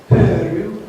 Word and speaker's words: Pöyry: Pöyry, as the Finnish parent would pronounce it, is an engineering consultancy, but I live in the management consulting world.